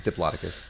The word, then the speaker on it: Diplodocus: I can never pronounce Yeah, anything. it's Diplodocus.